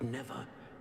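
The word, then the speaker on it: Niamh: Now that you have witnessed Niam's my memory, name is is spelled Niam, but it's that pronounced is at Neve.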